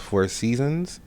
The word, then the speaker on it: IVSZNZ: Again, I am your host, Four Seasons. That is pronounced Ivsznz.